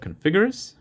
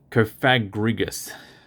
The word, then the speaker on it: Cofagrigus: Got the Configurus. No. Cofagrigus.